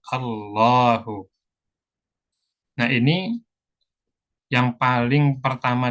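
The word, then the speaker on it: الله: datar enggak berdiri ya tapi cara bacanya pendek atau panjang tetap panjang khusus lafzul jalalah walaupun tandanya harakatnya datar seperti ini tetap dibaca panjang dua harakat Allahu nah ini yang paling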